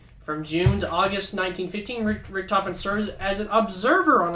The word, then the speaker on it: Richthofen: the title or coffin richtofen that's how you say it okay i'm just saying